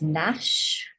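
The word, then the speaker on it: gnash: note again these letters silent g is silent when it's next to an N so download this sheet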